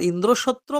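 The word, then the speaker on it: ইন্দ্রশত্রু: আবার ইন্দ্রসত্র মানে ইন্দ্রের শত্রু এমনও হতে পারে, মানে সম্বন্ধ তৎপুরুষ বা ষষ্ঠী তৎপুরুষ হতে পারে। ইন্দ্রসত্র, এই সম্বোধন পদটির প্রথম স্বর হ্রস্ব ই যদি উচ্চ স্বরে উচ্চারণ করা হয়, এটা বললাম, তো তার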